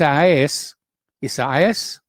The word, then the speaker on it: Isaias: across the northeast as tropical storm i keep mispronouncing this is isaias almost new york new jersey and pennsylvania unleashing